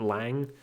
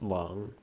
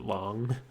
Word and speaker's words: Lang: Sorry, I used to always refer to him as Agent Lang. I've since realized it's probably supposed to be pronounced Long. So I'm doing my best to pronounce it Long.